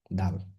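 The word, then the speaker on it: د: দা এই হচ্ছে দা দাল দাল এবং যা কাছাকাছি দালে নোক্তা নেই দাল উচ্চারণ হয় উপরের দাঁতের গোড়ার জিহবার আগা স্পর্শ করে দা তা দাদা এর কাছাকাছি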